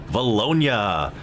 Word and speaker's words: Vilonia: thanks for the pronunciation Tony Richmond it is pronounced Vilonia Arkansas and so Hector nearest Philly's closer comes